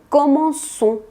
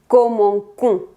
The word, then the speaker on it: commençons: Aquí se le pone una colita a la C para hacer este sonido S, y esa C se le llama C cédille. Si no le ponemos esta C cédille, sonaría como commencons, lo cual sería incorrecto.